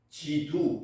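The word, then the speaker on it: 基督: 그래서 기독이라고 한문으로 써 놓고 읽기는 지두 이렇게 얘기습니다. 원래는 크라이스트를 기독이라고 암문으로 써 놓고 발음은지 이렇게 합니다.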